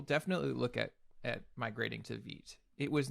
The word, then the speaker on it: Vite: And yes, Vite, pronounced Vite, it's from French. It, I believe, means fast, and Correct, it is. Yeah. Yes, Vite rhymes with sweet is my way of remembering it.